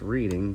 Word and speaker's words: Reading: So, I have here a uh lock from Reading, Pennsylvania, just like the Monopoly board, the Reading Railroad. Um, not pronounced reading, but pronounced Reading.